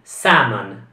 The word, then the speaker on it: salmon: meglio salmon sia ancora la l in questa parola per esempio non viene pronunciata quindi saman simon simon e la